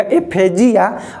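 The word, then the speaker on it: डिस्फेजिया: एस के जगह जी आ जाएगा, एफेजिया। तो एफेजिया का मतलब डिफिकल्टी इन स्वेलिंग, घोंटे में कोई भी चीज़ दिक्कत होगा उसको कहेंगे एफेजिया। एफेसिया प्रोनाउंसिएशन देखो, जिया और सिया। एफेजिया, जिया का मतलब घोंटे में दिक्कत हो रहा है, और सिया का मतलब कि डिफिकल्टी इन स्पीच।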